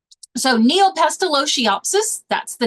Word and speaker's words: Neopestalotiopsis: the chat as we go all right so neopestalotiopsis that's the name of the disease and that's